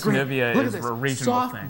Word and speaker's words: Nivea: And I don't think the way you pronounce Nivea is a regional thing. Soft, brisk toothbrush. It's just Nivea.